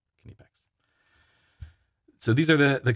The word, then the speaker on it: Knipex: kinipex cobra pliers now the way you pronounce that word is kanepex not nypex you can watch the various from germany videos about their tools and they say can you packs pretty consistently can epex so these are the